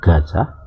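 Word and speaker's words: עזה: Jadi di kitab Masoret ditulis sebagai Azah, tapi bacanya Gaza karena pakai ayin.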